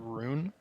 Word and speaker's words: Rune: say my name is rune sit like roon roon roon Jigoku okay and then